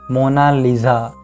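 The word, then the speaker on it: Mona Lisa: लिसा कहता है और इटालियन में इसकी सही प्रोनाउंसिएशन है मोना लीजा जिसका मतलब है माइलेज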